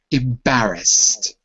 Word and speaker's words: embarrassed: a SS e d it's got two s's s's are voiceless to make the sound there's no vocal cords involved therefore it ends with a T sound embarrassed embarrassed okay I'm